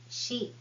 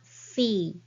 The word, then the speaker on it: し: She is not C, it is she.